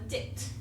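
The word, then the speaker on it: dict: Python it's called a dit and make sure you pronounce the T on the end and then um another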